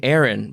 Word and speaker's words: Aron: By the way, y'all have been pronouncing Aaron's name wrong. Oh, no, I'm so sorry. How? Well, you're saying Aaron, but it's actually Aaron with one A.